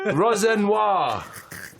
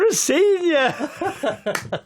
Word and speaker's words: Rosenior: Leroy Rosenoir. Who is it? It's Leroy Rosenior. That's not how it's spelled.